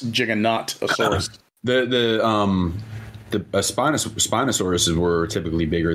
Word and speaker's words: Giganotosaurus: Well, Giganotosaurus. It's basically Gigantosaurus, but he's pronouncing it like, in the more scientific way.